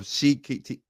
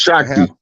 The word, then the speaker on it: Shakti: Arthur Basham, a well-known historian of India, wrote, "These themes of Shikti, how you say her name? Say that Shakti. name again, Rod. Shakti. It's pronounced Shakti. Shakti perhaps grew out of the conflict and eventually